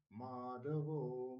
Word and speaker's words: मेधावी: ईश्वरो विक्रमी धनवी मेधावी विक्रम क्रम अनुत्तमो दुरा कृतज्य कृतिरात्मवान ईश्वरो यहां पर भी ई दीर्घ विक्रमी धनवी मी दीर्घ वि दीर्घ मेधावी तीनों ही दीर्घ विक्रम क्रमः विक्रम ख